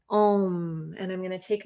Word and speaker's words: Om: m and that is the vibration ohm so sometimes you see that as an o and m but it's also spelled a u m so these are the three syllables we use for the vowel sound om and i'm going to